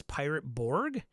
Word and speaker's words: Pirate Borg: Merc Bori, Dark Fort has the Swedish pronunciation. Pirate Bori is English and doesn't. Oh, so it is Pirate Borg?